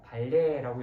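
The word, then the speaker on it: 반례: 자, 그 다음에 발레라는 그 이야기가 나오는데 발레라는 것은 발음은 내가 지금 여러분한테 글자 때문에 의식해서 발레라고 이렇게 얘기를 했지만 정확하게 발레라고 읽어주시면 되고 발레라고 읽어주시면 돼요. 그 다음에 반레라고 씁니다.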